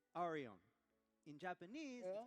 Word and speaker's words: Arion: Ar- In English it's Arion.